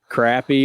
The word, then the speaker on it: crappie: Crappie or crappie? Crappie spells crappy.